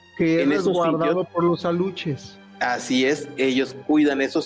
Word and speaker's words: alux: El el ¿Cuál es la pronunciación correcta de la palabra aluche?